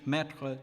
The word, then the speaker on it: mettre: Thus, E is open in French, mettre, to put, but close in the plural form of the possessive adjective my, pronounced mais.